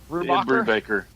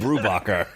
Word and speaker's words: Brubaker: how did you say his name weird hey Brubaker Orville Redenbacher alright no shall I get the pronunciation Bridge out everybody hold hands as we